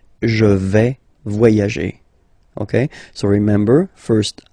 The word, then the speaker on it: vais: Okay, first person here, je vais. Remember, final S not pronounced.